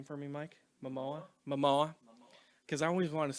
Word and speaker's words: Momoa: Pronounce his last name for me, Mike. Momoa? Momoa.